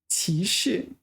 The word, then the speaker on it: 启示: There's 歧视, a little bit different pronunciation. But it is very common. This one, 歧视 third tone, fourth tone, this one.